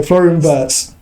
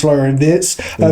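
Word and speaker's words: Florian Wirtz: So Florenz Florenz actually pronounced Florian Vietz player.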